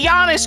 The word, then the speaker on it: Giannis: I'm so mad I can't pronounce Luka. No, that's gonna bother. It doesn't matter. Ayo. See? I can say Giannis correctly because that's how you say Giannis.